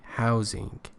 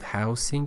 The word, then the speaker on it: housing: After the catastrophe, there was an acute need for emergency housing. Pay attention, it is not housing, it is housing, because house as a verb is pronounced with a Z or Z as a sound.